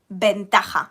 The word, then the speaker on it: ventaja: And the opposite, advantage, would be ventaja, with a V, even though I pronounce it like B, ¿vale?